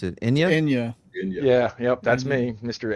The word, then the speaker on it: Enya: Some of it's Anya? quite Anya some- or Enya? Enya- Well, how do you Enya. pronounce it? Enya? Enya.